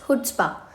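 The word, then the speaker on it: chutzpah: Let's move to the next word which is hood spa. देखिए इसमें ना जो सी होता है वो थोड़ा सा अ साइलेंट होता है तो हम इसको हुड्स्पा बोलेंगे।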